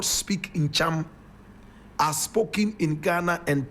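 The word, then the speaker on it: Ntcham: Ncham, and Ncham is spelled N-T-C-H-A-M.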